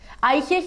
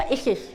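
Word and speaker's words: Isis: आइसिस या इसिस, दोनों pronunciation सही है।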